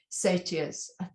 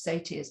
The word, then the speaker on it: satyr: to tell you, most satyrs, the American pronunciation is satyrs, but I want to say satyr because that's how we say it in England.